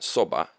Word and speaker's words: soba: ramen noodles but it's brown colored noodles soba americans say zelda but we say in japan soba with tempura so you get the soba it's